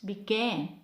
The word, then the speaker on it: began: it's be again it's began it's not big but it's began most of the time